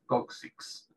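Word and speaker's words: coccyx: nosotros Incluso en español ellos eso es la pronuncia coxis con esa x al final nosotros la x o sea el hueso es coxis hueso coxal coxis la x está al principio y al final es la s ellos para ellos la pronunciación es la k y la x la k en el medio y la x al final coxis sí la forma media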